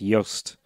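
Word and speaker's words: Jost: back to haunt me I think it's pronounced Yost your standoff spelt Jos T oh I know you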